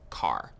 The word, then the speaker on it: char: Char is short for character, and sometimes you might hear people pronounce it as car.